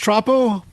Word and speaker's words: Troppo: It's pronounced Troppo?